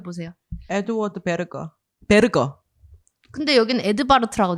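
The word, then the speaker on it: Edvard Berger: 그래서이 영화 같은 경우도 콘클라베라는 그 제목 동일한 제목으로 개봉을 했고 감독 감독님이 에드바르트 베르거라는 감독님이신데 이거 독일어로 좀 발음해 주세요.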